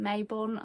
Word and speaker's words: Mabon: of the witch um Mabon or some people call it Mayabon. I'm not sure um but Mabon is how I pronounce it.